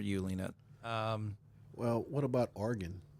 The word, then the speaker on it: Oregon: Well, what about Oregon? We say Oregon, but the correct pronunciation is Oregon.